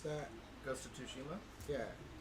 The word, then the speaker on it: Tsushima: I was all like, I totally need to get Bash to pronounce that. Ghost of Tsushima? Yeah. Sushimi. Sushimi. Yeah, that's what I thought it was too. No, because it's I saw it Tsushima.